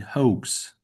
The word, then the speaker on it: hoax: that word you like O is pronounced like the name of the letter O.